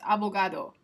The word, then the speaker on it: abogado: Now, there could be a possibility that the D here, sometimes people, especially native Spanish speakers, will pronounce that like this, abogado. So it's more like a the, abogado.